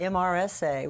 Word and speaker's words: MRSA: The MRSA, MRSA, which we pronounce MRSA, stands for methicillin-resistant Staph aureus.